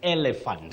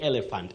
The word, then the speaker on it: elephant: for that animal is elephant. And many people say elephant innocently because they've never been guided by anyone to tell them that the second E takes the sound E, the high front sound E.